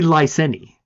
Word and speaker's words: Lyseni: You've said it both ways and and then talked about how you can't decide how to pronounce it. Yes. But definitely lyseni.